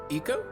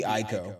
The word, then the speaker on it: Ico: Ico? Is that really how it's pronounced? All my life I've said Eco, but nobody has ever said it. So it totally could be Ico, like eye to eye, co.